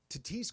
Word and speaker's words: Tatis: They I get the Padres's being upset about this cuz Tatise could get legitimately injured and I hope he's I love how you say it just like Pepe by the way.